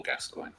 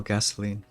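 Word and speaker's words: Gascoigne: Paul Gascoin. Yes. Apologies. I just heard Paul Gasoline. How do you say it? Paul Gas Gascoin.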